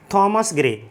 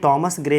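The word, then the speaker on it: Thomas Gray: पढ़ करके जाना है, थॉमस ग्रे। थॉमस ग्रे को हम प्रोनाउंसिएशन में टॉमस ग्रे भी पढ़ते हैं। ठीक है, तो चाहे थॉमस ग्रे चाहे टॉमस ग्रे, दोनों ही प्रोनाउंसिएशन इसके ठीक है।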